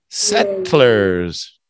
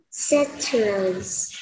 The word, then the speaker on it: settlers: Okay, and then from the T, we're gonna roll the T into an L. Tlers. Settlers. Settlers.